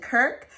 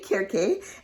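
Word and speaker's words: Kirké: k woo kit uh some people pronounce it kirk but there's an accent mark on here so we're gonna say uh so um i'm gonna say kirke and this is a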